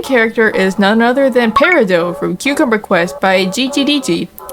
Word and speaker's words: Peridot: is none other than Peridot from Cucumber Quest by GGDG. Yes, that is the canonical pronunciation of her name. Do not call her Peridot, she will sue you!